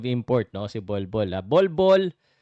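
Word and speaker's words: Bol Bol: Ay, mali yata 'yung pagka-pronounce ko. Ball Ball. Kasi po 'yung ball 'yung first name niya, 'yung last name niya ball. Okay. So ang pangalan lang talag talaga niya Ball.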